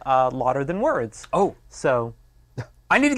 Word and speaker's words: Lauder Than Words: louder than words well louder than words because that's how you actually pronounce it but we here at